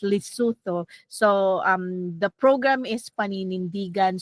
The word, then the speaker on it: Lesotho: That's how they're it's pronounced, Lesotho.